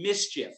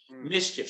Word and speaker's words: MSCHF: year a company called mischief and by the way it's spelled funny it's m s c h app mischief so if you want